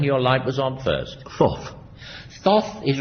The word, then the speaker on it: Thoth: Thoth. Thoth is right. Though it sounds as though he had a terrible lisp, doesn't it?